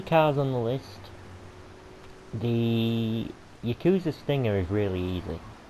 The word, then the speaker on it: yakuza: on the list the yakuza stinger is really easy i know i'm saying it wrong okay i know it's yakuza okay yakuza yakuza but i'm not i'm